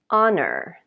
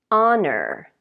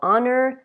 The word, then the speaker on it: honor: One of them is honor. Honor. So honor, the H is not pronounced.